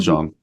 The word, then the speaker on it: Djon: And just for the listener, I want to say it's spelled DJON. DJON. Yeah. Yes. Jean OND. Jean. I love it.